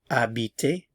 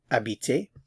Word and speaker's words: habiter: So again, we're going to look at habiter, to live, to inhabit, habiter. Note that the H is silent. Habiter, habiter.